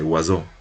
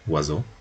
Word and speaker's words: oiseau: vemos que se transcribe oiseau, tenemos una facilidad para pronunciarlo, ¿no? Son 4 fonemas, entonces, 4 fonemas articulados.